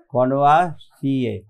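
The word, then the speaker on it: connoisseur: কনভার্সিয়ে উচ্চারণটা হবে কনভার্সিয়ে, এখানে আর কোনো উচ্চারণ নেই, ঠিক আছে, আর ইজ সাইলেন্ট।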